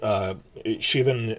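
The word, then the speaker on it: Siobhan: up in Season 2, if you see the letter S and I, it's pronounced like sha. So when you like Shiv, Shivan, when you see the character name pronounced like that, or Celtic pronunciation is different.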